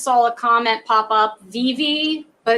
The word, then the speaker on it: VeVe: I just saw a comment pop up, veve, but it's spelled VEEV. Oh no, it's VEVE.